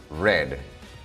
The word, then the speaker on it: read: Tenemos el verbo read, leer, y su escritura no cambia, sino solamente su pronunciación, read.